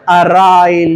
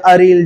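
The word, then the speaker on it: aryl: तो जब अल्केन ने हाइड्रोजन लॉस किया तो अल्काइल, और जब अरीन ने हाइड्रोजन लॉस किया तो अराइल या अरील, जो भी आपको प्रोनाउंस करना है।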